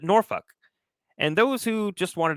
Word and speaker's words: Norfolk: area will pronounce it Norfolk, those who are from the area pronounce it NOR-fuk, and those who just wanted to get one over on the middle school teacher pronounce it NAH-fuk.